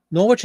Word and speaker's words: Norwich: Jello recipe giveaway book Norwich is actually pronounced Norwich with the style with the silent W okay very cool but